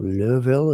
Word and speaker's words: Louisville: Cincinnati, Louisville, or Louisville, as somebody recently said I should pronounce it.